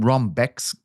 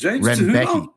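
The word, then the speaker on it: Rębecki: You see, they call Renbecki, I believe is how you call the name. They call him Rombeks. They have a wild way of pronouncing that name. Rebecki? They call him Rongbecki on the broadcast. And I just texted a lad who speaks Polish today, and I said, "Please tell me how to say his name." And he said it was Renbecki.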